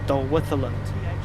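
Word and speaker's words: Dolwyddelan: there's one of the stations on the line from Llandudno to Blaenau-Ffestiniog is Dolwytherland. But the TH sound is spelled with double D's.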